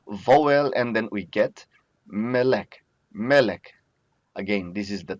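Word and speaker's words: מֶלֶךְ: From here, we change the vowel and then we get melek. Melek. Again, this is the tone syllable.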